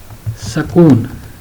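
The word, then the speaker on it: سکون: scarf wow and no this word is pronounced as sakoon okay try writing all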